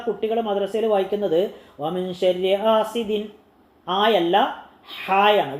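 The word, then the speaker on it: حسد: മദ്രസയിൽ വായിക്കുന്നത് വമിൻ ശർരി ഹാസിദിൻ, ആയല്ല ഹായാണ്, വാ തുറന്ന് പറയണം, വാ തുറന്ന് പറയണം, ഹാസിദിൻ, വമിൻ ശർരി ഹാസിദിൻ ഇദാ ഹസദ്, ഇദാ ഹസദ്, അസദ് അല്ല, അസദ് എന്ന് പറഞ്ഞാൽ സിംഹമാണ്, ഹസദ് എന്ന് പറഞ്ഞാൽ അസൂയ. അപ്പോൾ അസൂയ എന്ന് പറയുന്നിടത്ത് സിംഹം എന്നർത്ഥം വരും.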